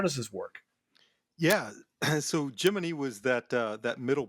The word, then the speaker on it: Gemini: you know that that's this debate among the uh the space geek set is you know how how to pronounce it but I'll say from firsthand experience everybody that I've interviewed or spoken with who was actually involved with the program to a man they all say geminy so I I I